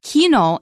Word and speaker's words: Kino: in Spanish and it's Kino in German they pronounced the C with a curse sound Kino is there's a